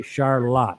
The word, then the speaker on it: Charlotte: It's spelled Charlotte, but up here they say Charlotte.